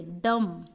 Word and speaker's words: dumb: इसको क्या पढ़ेंगे, डम, इसको क्या पढ़ेंगे, क्रम।